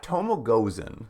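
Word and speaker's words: Tomoe Gozen: I'm going to pronounce the character's name wrong, I think. Is it Tomo Gozen? Yeah, Tomo Gozen, our first historical figure who pops up.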